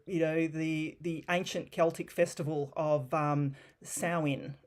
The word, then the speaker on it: Samhain: So its roots trace back to the ancient Celtic festival of Samhain, it's pronounced, which marked the end of the harvest season and the beginning of winter.